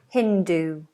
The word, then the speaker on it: Hindu: Imagine it like a double O at the end for your pronunciation. Hindu, Hindu, Hindu.